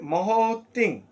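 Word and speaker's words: महतीं: আচার্যয় এখানে রয়েছে মহতিং। মহতি আমরা জানি যেখানে অনুস্বর থাকে সেখানে হবে ম।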